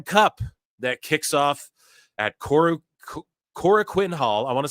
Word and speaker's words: Korakuen: Here is the New Japan Cup that kicks off at Korakuen Hall. I want to say it correctly. I always just say Korakuen, but I know that's not how you say it, but it's Korakuen Hall.